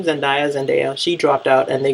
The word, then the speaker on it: Zendaya: So since they weren't on board with it, that's why Zendaya, that's you say her name, Zendaya, she dropped out, and they got Alexandria Shipp to play her.